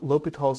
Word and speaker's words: L'Hôpital: not the norm and so the rewriting of lal's name in English language very often is written